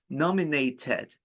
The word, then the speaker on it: nominated: Nominated, because it's Ted, you pronounce the E because the word ends with T.